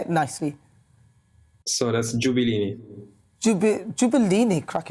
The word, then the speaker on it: Gabellini: So that's Gabellini.